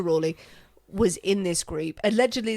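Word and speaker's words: Raleigh: Marlo were in there Sir Walter Raley Ry Ry I think it's pronounced actually Sir Walter Ry was in this group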